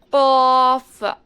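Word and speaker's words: ق: காஃப் காஃப் காஃப். So back side of the tongue வந்து ஊவியூலாக இருக்குல்ல, அதுக்கும் கொஞ்சமாக முன்னாடி பேலட்டில் புஷ் ஆகி டச் ஆகணும்.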